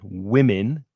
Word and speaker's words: women: Speaking of controversial questions, are women, notice the pronunciation, women, plural, woman, singular, are women in general better managers than men?